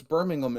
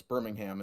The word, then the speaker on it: Birmingham: Well, it's Birmingham in the States. Sorry, in the UK, it's Birmingham in the States. Yeah. It's just, we never pronounce the H.